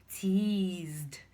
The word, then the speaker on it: teased: Tease ends as letters se, but when you pronounce, you have the z sound. Z. Tease. So the past tense form becomes what? Teased, teased, teased.